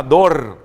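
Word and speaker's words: דור: genealogia também da palavra dor dor não é dor de dor alguma coisa mais sempre se pronuncia a dor dalet Vale com pontuação para o e o resto dor que se refere à geração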